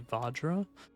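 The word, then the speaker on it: Vajra: I've learned I've been pronouncing this wrong. This is actually Vadra, as can be read. V A J R A. I thought the pronunciation was from like Norse or something. And I don't speak Norse, so my bad. But this is the Vadra. I think it has like a long a Vadra something like that.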